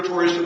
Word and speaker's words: Torgerson: grandfather kept on teaching all the British and American missionaries, it's not Torgerson, it's Torgerson.